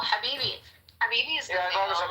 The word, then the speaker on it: habibi: You're going from calling me dog to Habibti. See, dog is a Kabbalistic word for God, so don't sweat it, goddess. AKA Scarface. That was just Habibi. Habib? No, Habibi.